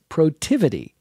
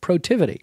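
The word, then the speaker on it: Protiviti: sponsor on his shirt was protivity and you probably didn't even know how to say it you just saw the words but it's productivity now most people have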